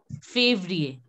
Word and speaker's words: février: Février. You know how to say favorite? So same way, février.